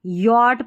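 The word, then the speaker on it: yacht: Spelling यॉर्ट यट पढ़ना है इसको। सी एच साइलेंट है।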